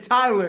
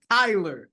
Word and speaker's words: Kyler: said it right Tyler no you said Tyler it's Kyler oh Kyler Kyler Murray